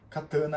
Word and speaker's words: katana: é uma Catan certo katana com c catana com K Catan catana é a pronúncia então é a mesma